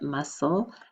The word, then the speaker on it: muscle: that muscle right but that c is actually silent muscle but then we have